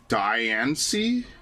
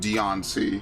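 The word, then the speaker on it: Diancie: Deiancy is pronounced like the diamond. Diani. I've only ever heard Deionci, but I guess so.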